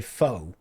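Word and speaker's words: phở: And he made me some I think you pronounce it fur, but most people say foe. He made me some faux soup.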